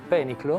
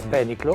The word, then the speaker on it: pēniclō: and the other thing that you didn't pronounce we shall not say 'opusse' but only 'opus' 'opus pēniclō' Pèniclo?